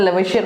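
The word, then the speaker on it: Lavoisier: वैसे मेरे ख्याल से देखो, मैं लेविशन नहीं पढ़ता हूँ इसको, मैं पढ़ता हूँ लेवॉइजर, ताकि स्पेलिंग याद रहे ना, ठीक है। आप किसी के सामने बोल रहे हो तो लेविशियर पढ़ लो, लेकिन आपके मन में क्या रहना चाहिए, लेवॉइजर, ताकि स्पेलिंग याद रहे, ठीक है।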